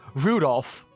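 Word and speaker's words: Rudolf: That mess of a character is pronounced Rudolph. Like the red-nosed reindeer.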